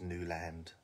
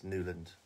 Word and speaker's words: Newland: hands up to it nobody in my family says Newland they don't not one of them it's newand my N I think